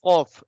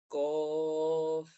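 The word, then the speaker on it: ق: is qaf. We will pronounce it from the top of our throat. We will say from the top of our throat. Qaf. Kof.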